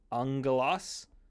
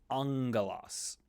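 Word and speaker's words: ἄγγελος: come across this occasionally when you have the gamma doubled it becomes an NG sound in English so famously the word Angelos where we get angel from the gamma gamma becomes NG angos similarly when you have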